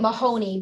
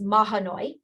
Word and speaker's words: Mahanoy: 23rd of this year i keep calling it mahoney but it's mahanoy so i apologize to